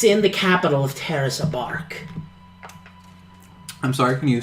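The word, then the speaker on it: Abork: It's in the capital of Terrace, Abark. I'm sorry, can you say that again? Abark. A bark? Yes. Like a dog.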